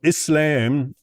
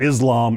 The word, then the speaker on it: Islam: Okay, so Islam, you know, I unfortunately I always end up pronouncing things like an American. It's not Islam, it's Islam. And it's not mus it's not Muslim, it's Muslim.